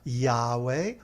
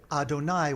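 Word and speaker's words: YHWH: But we do, when it comes up in Scripture, we say Adonai, which means my God.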